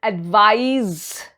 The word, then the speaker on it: advise: according to the sentence an advice that rhymes with eyes any eyes is a verb form and when someone is